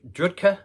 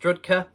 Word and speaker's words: Drudkh: Ukrainian black metal Giants uh drudger is that all right it's pronounced rudka yeah what's the name